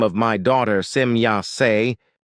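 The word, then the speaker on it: Semjase: As for example with the name of my daughter Simya when the e at the end of the name is pronounced in English as an I.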